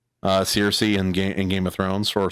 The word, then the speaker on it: Cersei: you saying that name wrong on purpose? What? Is that what Xerxes. you call her? Cersei. You were saying Circe.